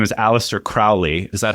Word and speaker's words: Aleister Crowley: I haven't had the time, whose name is Aleister Crowley.